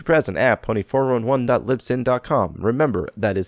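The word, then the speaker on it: Libsyn: a pony for on1 Lipson calm remember that is spelled li b sy n sin like sync not sinful mmm you can also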